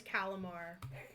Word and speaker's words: Callimar: I mean, Is it like calamari minus the I? What, did I just have a stroke? no, because there's a double L in it. Spell it.